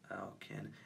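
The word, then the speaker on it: Alkaine: Alkin. It was A-L-K-A-I-N-E. Alkin. You can never pronounce these Gogos names, I swear. But yeah, his name is Alkin.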